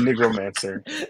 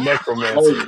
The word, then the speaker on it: necromancer: I said Negromancer. I meant necromancer.